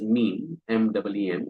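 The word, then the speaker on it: MPEEM: M P E M or commonly pronounced as mean M. That's how it's pronounced.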